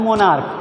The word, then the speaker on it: monarch: जैसे मोनार्च, अब यहाँ पर लिखा तो मोनार्च है लेकिन इसको पढ़ा जाता है मोनार्क, तो अब CH का